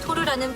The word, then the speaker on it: Tor: 다르파, 이 두 개의 기관이 군사통신의 익명성과 보안 강화를 위해 개발한 토르라는 프로젝트에 의해 활성화됐습니다. 아 이 토르 망치 말인가요? 물론 이건 짝퉁입니다만. 네, 발음은 같아요.